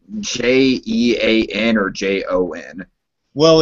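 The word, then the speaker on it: J'onn: Just a quick nitpicky question: is his name like Jean or Jon? Well, it's technically it's spelled like J little slash like comma mark ONN. It's pronounced Jean, kind of like a little French thing.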